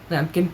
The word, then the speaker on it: Lampkin: Because it rhymes with pumpkin. Lampkin, pumpkin, kind of.